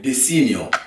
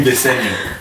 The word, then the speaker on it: Desenio: No, you're not from Italy, so you don't know how to pronounce the Italian way. Desenio. What do you mean Desenio?